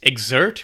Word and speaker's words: Xert: the name of their product which is exert which is spelled X RT so you skip the e in the word exert the way that it's commonly spelt and it's a training